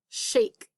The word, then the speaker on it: shake: Well, I hear that S-H, digraph, ache. And I know this ache chunk from the words we worked on earlier today. And I know I have to have that sneaky silent E on the end, otherwise I just have a shack.